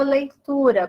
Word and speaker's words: leitura: Então, na palavra leitura, qual é a sílaba tônica? Leitura, então é o tu.